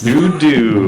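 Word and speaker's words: Doux: Doo. It's Doo.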